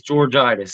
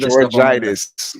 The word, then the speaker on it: Georgitis: make me pronounce that my last name is georgitis so you can't uh I've heard getis I got you so